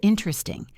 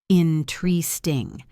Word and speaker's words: interesting: Let's look at the word interesting. This is a classic example of syncope. Most Americans say interesting. They drop the first E. Interesting. 3 syllables instead of 4.